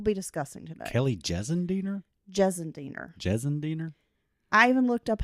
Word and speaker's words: Gissendaner: lot of personal feelings about this woman, Kelly Gissendaner, Ugh. that we'll be discussing today. Kelly Gissendaner? Gissendaner. I even looked up how to pronounce it because it's got a different kind of spelling, but it's pronounced Gissendaner.